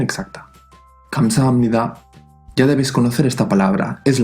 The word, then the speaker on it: 감사합니다: A veces se romanizará con una G o con una K, porque en realidad no es ni un sonido ni el otro. Sí que suena más como una K que como una G, pero aún así el sonido es intermedio.